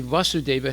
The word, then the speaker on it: Vasudeva: and when we say Vasudeva has a short aid and when we say Vasudeva it means Krishna his son with a long a o Lord o my